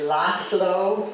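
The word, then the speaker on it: László: And Laszlo is not Laszlo or Laszlo, it's Laszlo.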